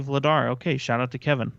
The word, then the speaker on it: Vladar: your games once oh it's actually vladar okay shout out to